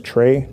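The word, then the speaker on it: Traye: It's spelled M-J-E-L-D-E. First name is Trey, T-R-A-Y-E.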